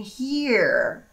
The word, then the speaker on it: here: Here. De ouvir. É o mesmo som. Here. Here. Ó, a pronúncia here, here. E aí você puxa um R.